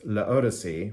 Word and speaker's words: L'Eau d'Issey: a play on words if you pronounce it quickly in French it's laodice which is like the Odyssey it's like a voyage so so is this